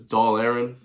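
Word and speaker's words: Dáil Éireann: the British House of Commons and the Irish Dale A. I can't pronounce Gaelic guy. Sorry. as doll Aaron.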